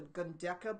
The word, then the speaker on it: Gundecha: And then there's also these beautiful Indian musicians called the Gundeka brothers, and that's spelled Gundecha brothers.